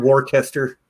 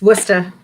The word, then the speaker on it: Worcester: of that City yes I know it's not war tester it's Worcester it's Worcester Worcester Mass that's where I'm from